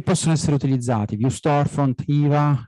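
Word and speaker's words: Hyvä: essere utilizzati più storefont IVA io lo pronuncio così si dovrebbe dire viva ma non mi piace IVA Breeze uno degli ultimi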